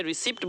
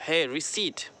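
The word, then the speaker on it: receipt: Next आते हैं, ये रिसिप्ट बोलते हैं, रिसिप्ट गलत है रिसीट, रिसीट, री को खींचे, रिसी पर स्ट्रेस देंगे, रिसीट, सीट, ओके, रिसीट।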